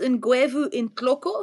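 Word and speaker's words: Ngwevu intloko: some people what is it so it's it's pronounced in guu in clo so guu is the genus name and in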